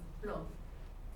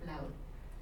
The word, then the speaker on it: Plaud: But the last name Plaud in French is pronounced Blo. But in Puerto Rico, where they Hispanicized it, they pronounce it phonetically because Spanish is a phonetic language, so you pronounce every letter. So Plaud.